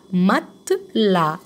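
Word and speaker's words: matelas: يبقى هننطقها تاني، بيغو مكتب، مون بيغو مكتبي، مون مات لا، مات لا الاس مش بنطقها، مات لا يعني مرتبه، مرتبتي.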